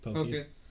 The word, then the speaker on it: poke: I think it's pronounced pokey. Poke. I don't know how to pronounce it, but those little like stick things. No, that's pocky. Poke is like it's like a dish similar.